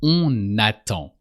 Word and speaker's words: on attend: So here you have to pronounce the N of on. That's an exception. When you have a word that starts with a vowel, just after on, you pronounce the N. On attend. And you pronounce that N as if it was the first letter of the word attend or n'attend.